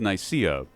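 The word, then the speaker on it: Nicaea: it comes to the Council of NAA which or Council of nikea depending on how you want to pronounce it that was the council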